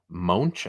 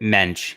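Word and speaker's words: Moench: I love Doug uh munch I think is how you say it Mensch actually is it Mensch it is I've always been saying munch that's good stuff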